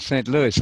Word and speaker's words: St. Louis: tea yeah Louis yeah pronounced with an S on the end st. Louis I think yeah so